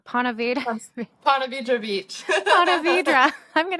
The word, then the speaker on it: Ponte Vedra: Ponte Vedra Beach.